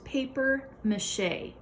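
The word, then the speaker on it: papier-mâché: this is a different this word comes from a different language and they use that to help pronounce the word this is paper mache you've probably heard that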